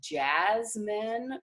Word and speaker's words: Jazzmen: So we do have this local rice that's called Jasmine rice, and it's like Louisiana rice, and it's a jasmine rice, but it's spelled Jazzmen, which I do think you can order online.